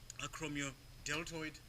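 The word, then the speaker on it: acromiodeltoid: chromium deltoid Delta and learn to pronounce the word all the letters because that's how the Latin words are and also it helps you to spell it you see what I'm saying acromio deltoid deltoid okay okay what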